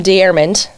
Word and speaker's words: Deyermond: are and tell me if I get your name wrong, but it's Jim Dearand, right?